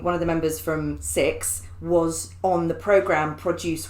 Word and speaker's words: CIX: it's called is it six cis yes yes cix yeah they're called six but you spell it cix i'm just glad you